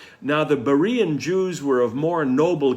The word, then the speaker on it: Berea: flee this time to berea there's a wonderful monument in berea which is spelled varia these days with a v rather than a b although pronounced the same it's a wonderful monument